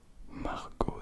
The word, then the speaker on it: Margot: Margot, ça rime avec escargot.